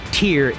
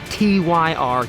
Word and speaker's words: TYR: right tier it's pronounced tier not tyr tier like after the Norse God anyway let's get into